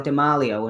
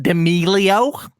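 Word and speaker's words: D'Amelio: people like that charlie dimarlio and addison ray's made absolutely great enough uh it's actually pronounced demilio get it right you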